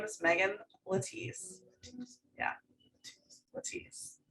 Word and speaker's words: Letize: It was not it wasn't originated to be pronounced that way. But when the Italians came over, this is my husband's story. This is his genetics. But when his family came over, they were Letizia, and so that feels